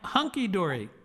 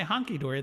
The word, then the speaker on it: hunky dory: you say i am hunky dory uh and uh or yes i used to say honky dory then i realized that that's not how it's pronounced or spelled um and uh yes